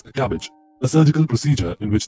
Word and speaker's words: CABG: artery bypass grafting or cabg pronounced as cabbage a surgical procedure in